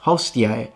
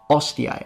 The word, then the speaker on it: hostiae: And they tell us it's supposed to be pronounced hostiae, not ostiae, and they specifically drop the H to tell us that that's the incorrect one.